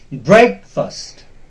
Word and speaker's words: breakfast: will be stress it we uh usually we pronounce it very wrongly fast that is wrong it is break first okay and then the second word is black